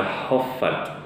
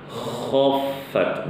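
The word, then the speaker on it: خَفَّتْ: Pada kata khaffat, ini seringkali ya ibu-ibu, huruf kha-nya itu dibacanya kayak huruf h. Tapi khaffat ini salah ya, nggak boleh baca khaffat. Yang benar khaffat dengan kha, begitu ibu-ibu rahimakumullah.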